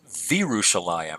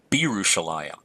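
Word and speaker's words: וִירוּשָׁלַיִם: It is a bagad kafat letter, but because of the vowel right before it, the choma, I'm pronouncing that as v'Yerushalayim rather than b'Yerushalayim, because there's no dagesh leni.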